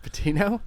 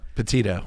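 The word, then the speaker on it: Petito: Is it Patino? Patito. You don't even know your current events. I It's Gabby Patito, bro.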